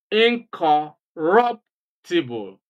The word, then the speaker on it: incorruptible: of the word okay in other words you just uh skip the the prefix and stress the next syllable after the prefix for example the prefix here is inor Incorruptible in incompatible the